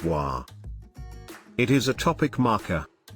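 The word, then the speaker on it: は: particle wah particle wah in writing it is ha in hiragana but is pronounced as wah it is a topic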